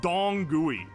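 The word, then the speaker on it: dong gui: Otherwise known as dong gooey like d o n g gui is the pronunciation.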